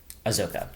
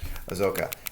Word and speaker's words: Ahsoka: Ahsoka. Ahsoka.